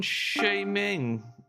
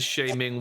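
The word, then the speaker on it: Sha-Ming: H I'm going to lean into the shaming world, I think. Well, isn't that a surprise? Isn't that a surprise? I think the idea is pronounced like charming.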